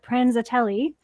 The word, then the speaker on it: Prenzatelli: little background on uh prenzatelli she did I pronounce that properly you did and a lot of people don't oh perfect well she is